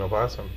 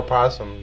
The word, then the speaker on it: opossum: Well, so is an opossum. Or possum, depending on which pronunciation.